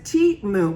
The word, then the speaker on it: Temu: And it says Temu, which is how it should be pronounced, is an online marketplace that connects consumers